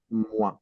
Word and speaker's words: moi: Then let's say if we are having OI in French together, O and I, like sounded like ua, ua. For example, how will we pronounce this? Wow. Moi.